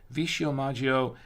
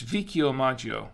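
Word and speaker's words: Vicchiomaggio: Tuscany between Florence and Siena you will find vishio Maggio a actually it's pronounced vicchio Maggio I think it's what it was it's vikio Maggio excuse me a 14th century Castle let me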